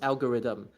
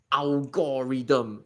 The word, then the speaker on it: algorithm: before, but it's like this is pronounced algorithm. I'm not even It's not even about accent or anything. I don't know how Singaporeans managed to butcher this word to become like alorm.